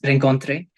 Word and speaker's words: rencontre: the thing was that Ron can be pronounced in very different ways in English it's rankontre in French it's Ron because the French people make a sound of R from like somewhere from here exactly so